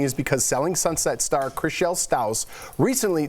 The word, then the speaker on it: Chrishell Stause: star Chrishell Stause recently, did I say her name right? Yeah, you did. Wow, that's a first time. Yeah. Said she still, I don't know why I always say Trishelle or Stow, I don't know what.